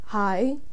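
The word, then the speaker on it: haigh: next word in gaelic the next word is hai which in galaxies hi h a i d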